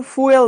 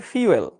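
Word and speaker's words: fuel: এটার উচ্চারণ কিন্তু ফুয়েল না এটার উচ্চারণ হচ্ছে ফিউয়েল।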